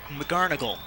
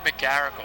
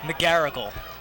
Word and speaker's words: McGarrigle: Number 45, Pat McGarnagle, I think, or I've said his name wrong all night. Pat McGarrigle. McGarrigle. The score now, 7-5, Ridley still leading with 3:46 left in the third quarter.